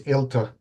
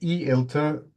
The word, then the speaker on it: eLTER: shared correct perfect okay uh so first U pronunciation it's elter um because if we say e elter it would imply an e infrastructure focusing on